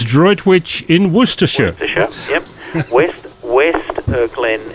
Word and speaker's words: Droitwich: It's Droitwich in Worcestershire.